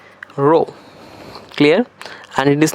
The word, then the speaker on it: rho: Yes, the pronunciation is RO, rho.